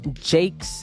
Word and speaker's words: JVKE: are you listening to I'm listening to Jake I can't find that on Apple music or Spotify well it's spelled with a V it's kind of annoying